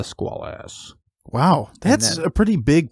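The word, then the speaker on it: Squalus: So throughout the movie, the name of the sub, as I said, was mispronounced. It was actually the Squalas, not the Squalas.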